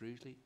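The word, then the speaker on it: Rugeley: seven is hagley field rougely proposed lease i was intrigued by the pronunciation of rougely depends where you come from in the county sometimes it's rudely other times it's rudely but um let's see how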